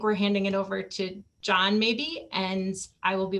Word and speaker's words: John: pronounce the h well the h is silent but we'll know it